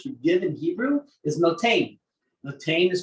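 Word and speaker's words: נתן: The Hebrew word lashon hakodesh for give in Hebrew is notain. Notain is spelled nun, tough nun.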